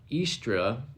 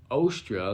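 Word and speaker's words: Eostre: the goddess of fertility called uh estra or ostra there's also a couple other pronunciations out there but whatever you want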